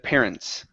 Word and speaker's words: parents: And the last one here, let's make sure to pronounce this S on the end of parents.